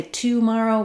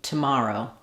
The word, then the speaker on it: tomorrow: In the word tomorrow, we stress on the mar syllable, tomorrow, and that means that we don't do a clear vowel in the first syllable. So even though we have the word to, we don't say tomorrow, we say tomorrow, tomorrow. We reduce that first vowel and it's a schwa sound.